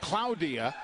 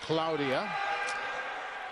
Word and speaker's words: Claudia: It's pronounced Claudia, but it is spelled Claudia. But she being a young lady from Spain, it is pronounced Claudia.